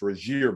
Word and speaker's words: Rasir: Bolton, by the way, it is pronounced Rasir Bolton, which Steve knows. A lot of people got it wrong, including Drew Timme. They tried to teach Drew last week how to pronounce it correctly, and I think he just called him like Raz or something like that.